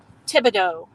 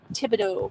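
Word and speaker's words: Thibodaux: Thibodeau is how it's pronounced. Thibodeau.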